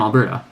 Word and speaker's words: Alberta: And yet, in English, how do you know that the stress is supposed to fall on the first syllable in Calgary, but the second syllable in Alberta?